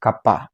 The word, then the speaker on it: Kapha: Kaa by the way it's pronounced Kapa not kafa okay and these are